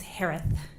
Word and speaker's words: Herath: maiden name last name is pronounced like Harris with a lisp it's herath h-e-r-a-t-h hello just as